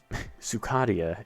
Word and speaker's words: Sukadia: But Sukadia is the canon pronunciation, according to that lore.